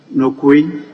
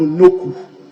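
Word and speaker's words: Nokoe: Right Honorable Speaker, just like became Kojo, it was supposed to be N-O-K-U traditionally, but the spelling has differentiated a little to K-O-E, but the pronunciation is N-O-K-U, Noku. Noku.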